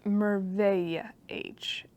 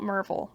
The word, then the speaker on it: Merveille H: Okay, I was pronouncing it wrong. It's Merveille H. M-E-R-V-E-I-L-L-E. Not Merville.